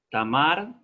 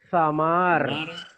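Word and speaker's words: Θαμάρ: Sara, Ek, Tes, Tamar. No, teta otra vez, el fonema Z. Zamar.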